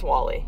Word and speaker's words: WALL-E: wall-e by the way so it's spelled wal L - E it's a Pixar movie from several years ago about a little robot whose name is Wally you need to watch